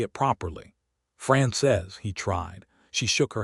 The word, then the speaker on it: Frances: Francis is, she pronounced it the French way, France says, with the second syllable soft and the whole word landing like something meant to be held carefully. "That is how you say it properly." "France says," he tried.